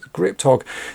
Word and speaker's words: Ggripptogg: his name right, because there's a double G, a double P, and then a double G in it. But to me, that looks like it probably should be pronounced as Ggripptogg.